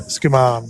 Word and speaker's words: Skuman: So it's pronounced Skuman, is it? Yeah, Skuman, yep.